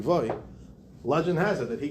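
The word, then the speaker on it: Loew: So the Maharal of Prague, Rabbi Yehuda Lowy, or the proper pronunciation is Rabbi Yehuda Levoy, legend has it that he created the Golem of Prague, and I'm actually his great-great-grandchild.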